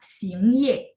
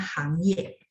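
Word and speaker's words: 行业: Terus tidak ada juga istilah sing ye, nomor 21 ya teman-teman ya, boleh bantu saya lihat nomor 21. Misalnya ketemu dua huruf ini, saya taunya ini baca sing sama hang. Kata Laoshi nggak ada sing ye, nggak bakal ketukar ya, nggak ada sing ye, nggak ada kosakata sing ye, adanya hang ye, bidang.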